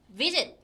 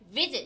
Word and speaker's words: visit: 따라 다른 아이인데 지은 우리가 visit visit 이렇게 앞에다가 강세가 있는 요런 애들은 우리가 그냥